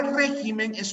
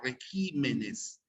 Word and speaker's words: regímenes: régimen Miren la palabra régimen es una palabra esdrújula cierto régimen pero cuando se pluraliza la tilde cambia de posición el plural de régimen no será régimenes sino se cambia regímenes y se y sigue